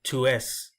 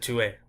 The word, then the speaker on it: tu es: I didn't say tu es. I just said tu es, where I just really pronounced the E.